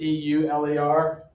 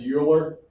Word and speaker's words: Euler: is called Euler notation even though it says e-u-l-e-r and we're Americans we would say that's your because of course Americans are Hooked on Phonics and how we pronounce things as a way it should be said um if you go over to Europe This is Euler Euler notation in the